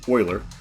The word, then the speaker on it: Euler: logarithm we just take e euler's number actually pronounced euler and raise it to the natural log of